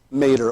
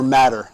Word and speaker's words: mater: the arachnoid Mater and the Pia Mater or matter I've heard it pronounced both ways okay three different levels